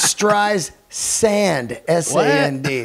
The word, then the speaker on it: Streisand: about how she said they've been saying my name wrong the entire career it's stress Sandy not really sand not the stripes yeah Streisand that's that's uh isn't